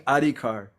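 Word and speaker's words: অধিকার: means make me first you should be saying adikar that please give me the qualification the adi card but instead seva adi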